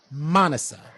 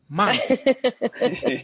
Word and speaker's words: Manasa: Manasa. Accent on the first syllable. Manasa.